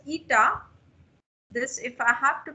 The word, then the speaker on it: eta: a constant with me that is pronounced as eta. This, if I have to pronounce it, this is pronounced as eta.